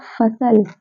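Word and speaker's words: फ़सल: नुक्ता है, बिंदी है, इसे हम क्या पढ़ेंगे, फसल। फा है ये, ठीक है। फसल हो गया, फिल्म हो गया, फासला, फतवा, फातिमा, ये सारे शब्द फा का उच्चारण दे रहे हैं क्योंकि इनके जिन बिंदी हैं।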